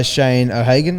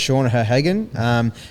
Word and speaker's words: Sean O'Hagan: This is an interview he was doing with this guy Shane O'Hagan. I think is how you say it, Sean O'Hagan.